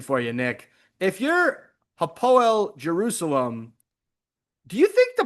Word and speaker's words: Hapoel: I believe it's Hapoel. Hapoel.